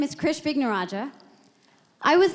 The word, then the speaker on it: Krish Vignarajah: So we're going to begin with Krish Vignarajah. Well done. Great pronunciation. Thank you. So my name is Krish Vignarajah.